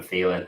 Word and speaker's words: Thielen: And to rhyme with ceiling, I've gone for a guy that any chance I can get this guy's name on the show, I'm going to do it. The ceiling of Adam Thielen.